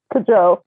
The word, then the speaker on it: Cajou: Because it sounds like cashew. Right. It's not that hard, but okay. Cajou.